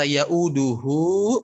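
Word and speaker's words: يؤوده: Oke, pada kata ya'uduhu panjangkan. Ada tanda panjang di sana.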